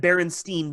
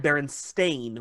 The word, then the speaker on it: Berenstain: I remember because everybody always said Berenstein Bears, but it's spelled Berenstain with an A.